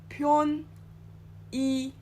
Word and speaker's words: 편의점: 편의점.